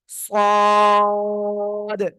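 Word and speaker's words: صاد: এই সদ অক্ষরেও কিন্তু 4 আলিফ টান। কয় আলিফ টান? 4 আলিফ টান। হ্যাঁ, ওকে, সবাই একসাথে উচ্চারণ করেন, সদ।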